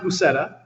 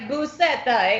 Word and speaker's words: Buceta: Well, it's pronounced Buceta, and it's, as far as I know, it's Spanish. My background for my family is mostly from Spain, and yeah, that's pretty much it. It sounds like Buceta.